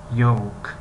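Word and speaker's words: yolk: یوک یوک یوک یوک یوک لی نوشته شده است، لیکن یوک یوک یوک تلفظ کرده می شود. خب خیلی گفتیم یوک یوک، یعنی ل تلفظ نمی شود و یک کمی شبیه به حرفی و است، یعنی یوک یوک یوک یوک یوک.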